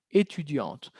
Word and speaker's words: étudiante: Si hubiera sido masculino, sin la E, sin el sonido de la T, il est étudiant.